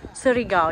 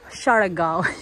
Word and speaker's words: Siargao: Lagi nila kaming kinokorrect sa pronunciation ng kanilang island. Hindi daw sa Siargao. Yung Siargao daw sa city yon. Itong island, Siargao.